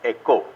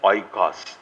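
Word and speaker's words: οἶκος: It's actually pronounced in Greek as echo, not as oikos.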